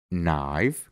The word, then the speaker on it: knife: después tiene una n solo Vamos a pronunciar la n y no vamos a pronunciar la k por ejemplo no que significa saber ni que significa rodilla Knife que significa cuchillo K